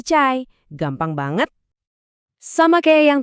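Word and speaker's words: çay: Padahal bunyinya itu adalah bunyi yang kita pakai tiap hari yaitu bunyi C kayak di kata cepat. Jadi pas kamu mau pesan teh atau cai ya bilang aja cay.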